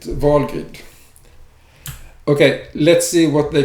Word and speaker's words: Helgrind: a tool for vulgate some people pronounce vulgar using english pronunciation but since it is a protection of vulgar in nordic mythology i call it volgate okay let's see what